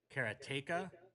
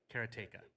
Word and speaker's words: Karateka: But uh honestly ultimately it's up to Jordan. And Jordan pronounces it and I might get this wrong but he pronounces it kerateka.